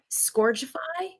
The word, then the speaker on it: Scourgify: Oh, I think do the same movements again, but it's actually pronounced Scourgify.